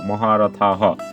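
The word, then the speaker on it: মহারথাঃ: তারপর আছে মহারথ, এবং সর্বশেষ দেখো যে বাক্যের শেষে যেহেতু বিসর্গ আছে, আর বিসর্গর পরিবর্তে যেহেতু আমাদের হ উচ্চারণ করতে হবে, তাহলে আমরা পাচ্ছি এটা কি মহারথা, বিসর্গ পরিবর্তে হ, মহারথা হ।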